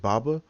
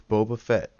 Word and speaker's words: Boba Fett: And I was like, am I saying it right? Is it Baba? It's Boba Fett.